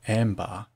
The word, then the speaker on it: anbar: of crude ambergris footnote arabic anbar pronounced ambar wherein i would derive